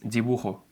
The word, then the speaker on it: dibujo: Please notice that I'm not saying dibujo, absurdo, cabeza. It's dibujo, absurdo, cabeza. The difference is very subtle, but it exists. It should sound like you're only trying to pronounce B, but something gets in your way and you can't finish it.